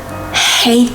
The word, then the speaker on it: hate: all seriously maybe you hate them all you hate them all release some air there's an H ate is not ate the past of eat ate is hate I cannot stand them